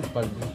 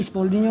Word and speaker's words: Spalding: mo history ng spolding spalding spalding pala to e spolding yung mag-pronounce nila eh kaya American accent na rin tayo.